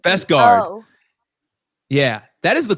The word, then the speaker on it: Beskar: Is it with a V or a B? Beskar? B-E. I think. Is it Beskar or Beskar? I think it's Beskar. That's how they pronounce it.